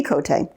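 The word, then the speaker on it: Côté: and um Andy is his last name is kotay Andy cot and I know that's not how you pronounce the name cot usually in New England it's usually coat or Cody here but um the last name came from one of my high school science teachers and he pronounced it kot so it's Andy kotay and it's a French Canadian name and so I thought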